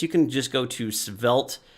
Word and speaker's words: Svelte: can just go to svelt and it's spelled with a t at the end so s v e l t e dot dev if you